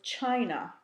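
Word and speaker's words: Qin: history after the Cho Dynasty there was the Chin Dynasty qyn is pronounced chin it was most likely the shortest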